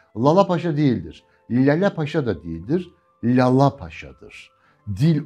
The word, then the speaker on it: Lalapaşa: Çünkü tam telaffuzu Lalapaşa'dır. Önceki L incedir, ikinci L kalındır. İlkinde damağa değdirirsiniz dilinizi, ikincisinde dişlere değdirirsiniz. Lalapaşa değildir. Lalapaşa da değildir. Lalapaşa'dır.